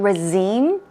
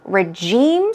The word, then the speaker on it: regime: What about regime? Okay, regime. Stress goes right there. It's not regime. Regime, some people say like this, but I think the more common pronunciation would be regime.